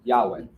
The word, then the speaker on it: Yahweh: There are no vowels when you write Hebrew. Okay. And we typically make it into that for pronunciation. Yahweh.